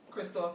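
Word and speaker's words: Kristoff: Yeah, so Christophe, right? Christophe, that's what you pronounce his name.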